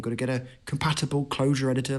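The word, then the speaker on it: Clojure: especially when you say it's closure spelled with a J by the way what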